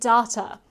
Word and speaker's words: data: I pronounce it data, and that is an acceptable way to pronounce data. The same way that I pronounce tomato, tomato, and chance, chance, and dance, dance. I have a different accent to maybe some of the people watching, and that's okay. Please stop telling me I pronounce data incorrectly.